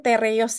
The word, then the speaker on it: TR-YÖS: teros ini sori ini T reos Ya ini kalau bahasa Turki t bacanya t r itu bacanya re makanya Dar Tadi aku bilang t reos ya jadi ujian OC